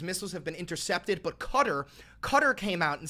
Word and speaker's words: Qatar: You've got to pronounce Qatar better. That's how they pronounce Qatar. That is literally how you pronounce Qatar.